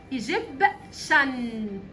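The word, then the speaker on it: Egyptian: شخص مصري استنى الاول التي والاي والايه الثلاث حروف دول الثلاث حروف دول لما بيجوا جنب بعض بيتنطق بصوت حرف الشين ايجيبشن ايجيبشن ايجيبشن مصري ايجيبشن معناها مصري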